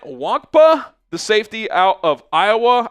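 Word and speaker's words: Nwankpa: I think the N is silent. Wankpa, the safety out of Iowa.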